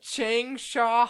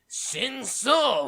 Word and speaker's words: Changsha: Changsha Hospital, not Shengshou Hospital.